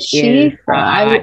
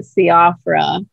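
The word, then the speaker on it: Síofra: Sounds like Shifra. Yep. And that's spelled S-I-O-F-R-A. F-R-A. It Shifra. It is Irish Gaelic for elf. Oh, okay. You know, I usually try to look that kind of stuff up, but I run out of time. And so I did not really know. Yeah, what is that? Yeah, I would have pronounced it Siafra, but that's why everything else has normal names.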